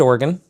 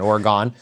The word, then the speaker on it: Oregon: So yes, we are in Portland, Oregon. That is how you say it, because I got corrected in an Uber last night for saying Oregon.